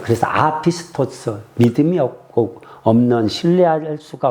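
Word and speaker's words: ἄπιστος: 어 알파 아라 발음하자. 그래서 아피스토스 믿음이 없고 없는 신뢰할 수가 없는 불성실한 불충성스런운 이런 뜻의 단어예요.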